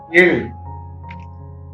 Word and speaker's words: ழ்: The tongue is bent fully inward. The tip of the tongue touches the hard palate, that is the innermost palate, and this produces the sound Il. Repeat after me. Il.